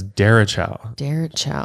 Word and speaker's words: derecho: And when you first look at it, it looks like it's pronounced derecho or derecho. Yeah, but it's derecho. Derecho, I believe is how you pronounce it.